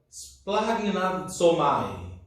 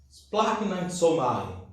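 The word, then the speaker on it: σπλαγχνίζομαι: Espero que eu pronuncie certo, porque teve um especialista que me ensinou a pronúncia, que é splagnatsomai. Splagnatsomai.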